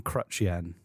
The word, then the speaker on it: Chrétien: name again jean chen i'm thinking of crutch and then the currency yen that's all remember sure john crutchien not quite there we